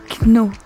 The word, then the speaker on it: know: I know. I know. I know. No. I know. Comment s'écrit know? K-N-O-W. Eh oui, mais on ne prononce pas le K.